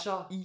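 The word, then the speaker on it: 茶: est le seul mot la seule lecture sino japonaises qui existent et qui se prononce donc cha on a déjà vu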